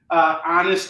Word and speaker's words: honest: As Ted used to say, my store name should be Honest Onrie's Used Comic Lot. And honest should be spelled ONIST. There's a silent H there.